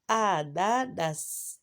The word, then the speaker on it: ananas: Le deuxième mot, ananas. Deuxième mot, c'est quoi? Ananas. Qu'est-ce qu'on a remarqué? Dans ce premier mot, la lettre N, on ne la prononce pas. Et ici, on la prononce, bien sûr.